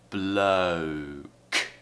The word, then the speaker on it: bloke: word here bloke and again we have a diphthong oh oh so we have schwa uh and then ooh bloke like blah blah blah so but and lah we need to join those together below below and another word